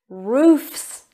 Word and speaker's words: roofs: let's focus on pronunciation roofs so it's an s sound can you repeat after me roofs roofs good job safes safes